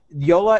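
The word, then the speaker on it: Jolla: So Yola is spelled J-O-L-L-A, and you just go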